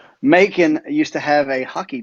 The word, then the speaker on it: Macon: Dried up somewhere around Macon, which rhymes with bacon, and it was smooth sailing from there on.